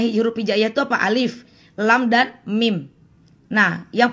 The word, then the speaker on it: Alif: Grup Asli seperti ini Alif Alif ya jangan Alip jangan ahli tapi Alif kemudian lemnya di sini